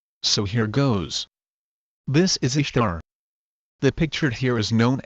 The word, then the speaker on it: Ishtar: Ishtar is not pronounced Easter in English. It is pronounced Ishtar. Actually, in modern English we pronounce it the way it looks.